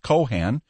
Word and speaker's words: Cohan: was Irish and that his name was spelled Cohan and pronounced with an accent on both syllables the B Cohen's resident